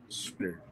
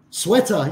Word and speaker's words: sweater: Sweeter. Sweeter. Sweater, yes.